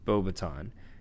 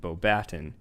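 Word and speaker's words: Beauxbatons: he attended bobaton which is rightfully pronounced bobaton in the film they pronounce it bobaton which is a french wizarding school located in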